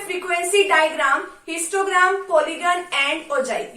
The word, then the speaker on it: ogive: ओगिव कह लो ओगिव कह लो, ओजाइव कह लो ओजाइव कह लो। वैसे इसका सही में जो प्रोनाउंसिएशन है वो उसको हम ओजाइव बोलते हैं, ठीक है।